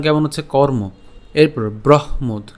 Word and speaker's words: ব্রহ্মোদ: কেন ব্রহ্মোদ? যেখানে আমাদের যুক্তবর্ণটি আছে, একে যদি আমরা ভাঙাই কি পাই? হ হসন্ত এবং হচ্ছে ম পাই। ঠিক আছে, তো এখন উচ্চারণ করার সময় বয় রফলা হ আমরা একসাথে উচ্চারণ করবো, তাহলে ব্রহ, এবং ওকারটাকে আমরা উচ্চারণ করছি ব্রহ্ম, এবং পরবর্তীতে যে দটা আছে এই দকে আমরা নিয়ে আসলাম, তাহলে ব্রহ্মোদ।